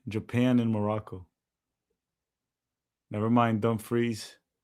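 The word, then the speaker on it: Dumfries: Is it dumbfreeze or dumb fries? I think it's Dumbfreeze, but that's I don't know actually. I don't think it's fries. I think fries is the American way of pronouncing it.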